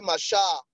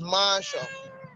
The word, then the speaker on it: marshal: know, the second syllable, while Marshall has the stress on the first syllable. So it's the only one with a different stress pattern there. So the answer to that question, number five, is option D, Marshall, Marshall. All right. Then, so it's one of those words that Nigerians, we pronounce wrongly. We say Marshall. It's not Marshall, it's Marshall.